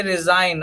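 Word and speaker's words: resign: मतलब होता है चिन्ह ओके दूसरा एग्जांपल देखिए रिजाइन आर ए एस आई जी एन तो जी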